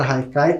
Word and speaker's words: haikai: como vocês podem ver a palavra Haikai como ela é de origem japonesa se escreve com h mas tem esse som de R e muitas vezes pode